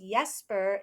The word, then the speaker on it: Jesper: Well, right back to Well, since we're in the fun zone, uh, now I know Jasper, your name is pronounced Yesper in other countries as well.